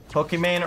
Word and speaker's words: Pokimane: Pokimane rhymes with Gucci Gang.